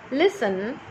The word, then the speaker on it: listen: Now, in every of these words, the letter T is silent, like castle, depot, listen, often.